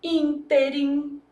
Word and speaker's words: ínterim: Então, antepenúltima sílaba tônica, eu vou falar, por exemplo, ínterim.